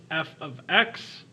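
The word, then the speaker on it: f(x): It's actually pronounced f of x.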